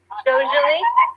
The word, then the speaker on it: Jujuolui: So you're Jujuolui. Am I saying your name right? It's pronounced Jujuolui, Okay.